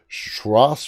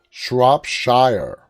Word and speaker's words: Shropshire: is from shoes berry has teamed up with schross fire i think i'm pronouncing that right schross shrops shropshire shropshire that's a difficult name to pronounce council